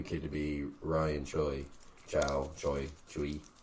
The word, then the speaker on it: Choi: Chui. I don't know. How you say it? How's it spelled? CHOI. Choi. So that makes the most sense.